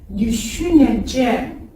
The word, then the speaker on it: düşüneceğim: Ben düşüneceğim. Comme vous le voyez, le Gémeaux ne se prononce pas, il allonge.